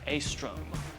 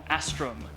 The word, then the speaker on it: Astrum: we are talking about a stroke or a strim depending on your pronunciation and your preference of long A's by Mohammed Collette let's